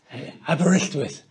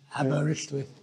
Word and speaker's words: Aberystwyth: Aberystwyth. Yes. Welsh name. It's a Welsh name. Aberystwyth.